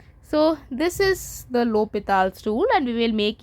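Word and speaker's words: L'Hôpital: a rule for finding limit which is called lals Rule it's written in this way but it's pronounced as Lal so uh that rule we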